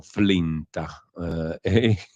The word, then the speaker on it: FLINTA: questo caso no sì che si pronuncia in italiano flinta che diavolo è Max